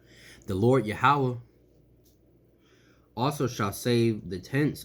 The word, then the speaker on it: Yahawah: in jerusalem the lord yahweh shall uh the lord allah also shall serve the tense i'm sorry i hate saying his name wrong the lord yahuwah also shall save the